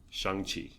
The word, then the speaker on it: Shang-Chi: Yeah, Shang-Chi. Not Shang-Chi. Yeah, that's how racist people pronounce it.